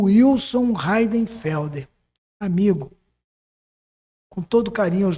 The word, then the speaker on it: Heidenfelder: Por favor, peça a ela para quando me apresentar pronunciar o meu nome da maneira correta, que é Heidenfelder, mas ele é escrito com H e I". E tem gente que vai ler Eidenfeld, Aiden Field, E uma série de coisa.